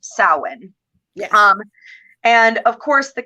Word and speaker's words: Samhain: Now it's spelt like Samhain, but it is pronounced Samhain.